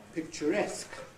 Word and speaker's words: picturesque: Picturesque. Picturesque. Picture has a stress on the first syllable, naturally. But when you make it picturesque, then the stress goes on to the last syllable.